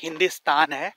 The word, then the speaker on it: Hindistan: But in their local language, it is Hindistan. So, modern people will understand India. But the older people don't understand India. So, Hindustan or Hindistan is the correct way to say it.